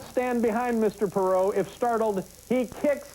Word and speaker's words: Perot: Anyone who pronounces the silent T in Perot will be ejected from the auditorium.